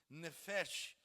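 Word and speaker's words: נפש: A alma, em primeiro lugar, do hebraico, perdão pela pronúncia, nefesh, e do grego psique, a alma, é uma das muitas palavras polissêmicas da Bíblia.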